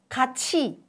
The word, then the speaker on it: 같이: 같이, 같이, 같이.